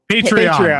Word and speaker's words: Patreon: Patreon.